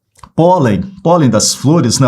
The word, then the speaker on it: pólen: Terminada em -n, pólen, pólen das flores, né? Ó, pólen, separei as sílabas, paroxítona, terminada em -n.